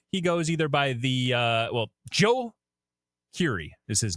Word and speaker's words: Djo: He's been on Free Guy the movie, and he also performs in the band Joe. Okay. Interesting. Spelled DJO, but it's pronounced Joe.